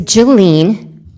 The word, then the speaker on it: Jelene: we had gotten it is Jelene, but I said because I want you to remember Jack and.